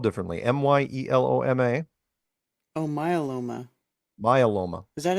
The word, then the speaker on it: myeloma: He'd been diagnosed with multiple melanoma. Melanoma? Yeah, but it's not. No. It's spelled differently. Myeloma.